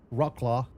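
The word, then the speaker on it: Wrocław: France up to uh Bobby told me the right way of pronouncing this is Rockclaw Poland.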